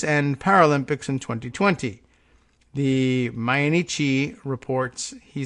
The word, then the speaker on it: Mainichi: he said in March so that's a Mayan mainichi it's M AI n IC H I I don't know whether we're meant to pronounce that in anglicized formas main man Ichi or my in Ichi and had that extra syllable I'm gonna do that